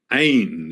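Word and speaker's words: אין: Ain is the way it's pronounced, the best we can get.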